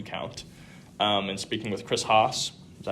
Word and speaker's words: Haas: And speaking with Chris Haas, is that how you pronounce it?